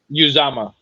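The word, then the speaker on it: Uzomah: jets they signed cj how do we pronounce his last name sean uzama uzama thank you i appreciate it i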